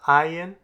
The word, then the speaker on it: ayin: Ayin, like aleph, used to be pronounced. We are not going to work on pronouncing it, as with most Hebrew grammars. We're taught to pronounce whatever vowel is written with the letter ayin.